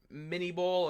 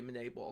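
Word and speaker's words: Minié ball: said before was a mini ball or monet ball it's technically a monet ball because it's french but americans most of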